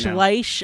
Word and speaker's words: Schleich: it's German, so you have to go Schleich.